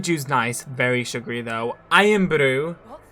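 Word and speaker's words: Irn-Bru: Iron Brew. And you kind of have to pronounce it like that. Iron Brew.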